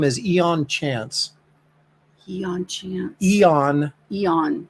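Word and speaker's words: Aeon: Eon. Eon. It's spelled with an A. A-E-O-N. Eon Chance.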